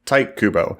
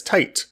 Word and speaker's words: Tite Kubo: When I was a kid, I would pronounce it as Tite. When I got older, I realized, wait, that's not how Japanese words and Japanese names are pronounced when they're spelled that way.